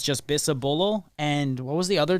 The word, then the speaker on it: Bisabolol: Bisabolol. So I said it in three syllables.